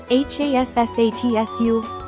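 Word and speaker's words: 八冊: Next, from the romanized hachi, hachi, drop the c, h, and I. For ju, if you were taught juu, drop the final u. If taught as ju, leave it as is. Then add the ssatsu you made earlier after that. It becomes hassatsu, 8冊 or jussatsu, 10冊 right?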